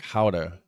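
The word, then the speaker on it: Gouda: like here you know they say guda cheese but in Dutch where it came from the way it's supposed to be pronounced is more like how to cheese which it wouldn't be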